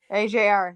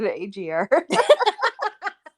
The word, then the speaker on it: AJR: AJR. There you go. AJR. There you go. Bah. Those poor guys. I have just not gotten anything right with them. No, I said it wrong too. I said AGR.